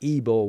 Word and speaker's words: Ivor: The spelling was Ivor, but Ibor was the pronunciation, the phonetic pronunciation that was next to Ibor's name.